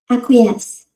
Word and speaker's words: acquiesce: Let me see how to pronounce it. Acquiesce.